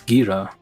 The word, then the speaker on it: Geara: That's a ghee, right? Gira. No, Gira. Not G. Gira. It's Gira. Zuru. Zuru. It's Gira. That's what is how it's pronounced in Japanese.